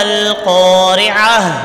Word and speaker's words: القارعة: وقف کریں گے تو گولتا جو ہے یہ ہا بن جائے گی اور اس کو ساکن پڑھیں گے. ما القارعة. وما أدراك ما القارعة.